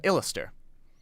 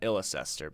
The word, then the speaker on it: Illister: Now, it's pronounced Illister, not Illicester, because it's based off of the English pronunciation, like, even if I can spell it, is the town of Leicester, which is pronounced Leicester.